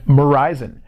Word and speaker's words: Verizon: give you a hint their name rhymes with horizon and verizon and jurisan and what